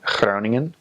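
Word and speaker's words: Groningen: I spell that right clowning in it doesn't have to be hyper pronounced a lot of a lot of new missionaries come out with a really G and that's not the that's very North Holland's and it's not necessarily recommended practice the G ranges from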